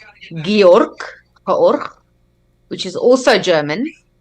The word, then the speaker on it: Georg: Yeah, and Georg is in German, that's how we pronounce it, Georg.